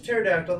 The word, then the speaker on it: pterodactyl: It's a pterodactyl. The bee is silent.